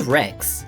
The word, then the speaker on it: Rex: The word Rex in T-Rex is spelt R-E-X, but it sounds just like the word for destroying things, which is spelt W-R-E-C-K-S.